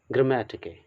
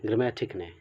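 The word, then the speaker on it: γραμματική: ग्रामेटिके, बहुत लोग इसे टिकने भी पढ़ते हैं, ग्रामेटिक ने, ओके।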